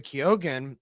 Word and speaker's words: Keoghan: I thought about Barry Keoghan, or I forget how you say his name.